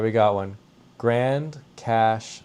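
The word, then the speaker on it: Grande Cache: Grand Cash, Alberta, but it's spelled with an E, which is odd. Grand Cash, Alberta, Canada.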